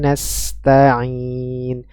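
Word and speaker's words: نستعين: suara yang mengalir melalui rongga hidung ya nastainin nastain ya bersih dari rongga hidung masuk kepada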